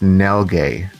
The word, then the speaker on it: Nilghe: My last name is pronounced Nilghe. Okay. No. Yeah, it's one of those no one will ever figure it out by just looking at it.